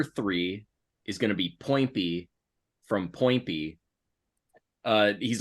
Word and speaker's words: Poinpy: Poinpy, like pointy, but with two P's.